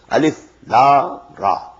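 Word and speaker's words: الر: These are pronounced separately, and so they are the broken into pieces. Not pronounced as Alif Lam Mim Alam, no. Alif Lam Mim. Alif Lam Ra Alar, no. Alif Lam Ra.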